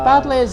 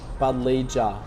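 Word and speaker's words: Buddleja: It's got a silent J in the name, hasn't it? Yeah. Yeah. Budger.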